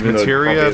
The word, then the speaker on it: Materia: thought it was Materia it's it's Materia because they pronounce it that way in Advent Children I honestly don't remember